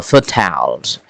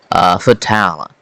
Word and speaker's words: fertile: Yeah, fertile or fertiles. And British English it is pronounced fertile. In American English we pronounce it fertile.